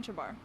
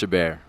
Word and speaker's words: Chabert: first basketball here with erin chabar it's pronounced chabert okay aaron is on